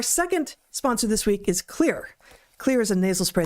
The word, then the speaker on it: Xlear: That's Xlear, pronounced clear.